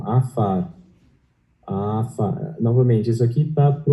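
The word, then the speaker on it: עפר: Lembrando que esse símbolo aqui, o Ain, não é pronunciado. Então, você tem o A, esse aqui sem o pontinho é som de F, daí você tem o A novamente, Afar, e o som de R. Então, Afar.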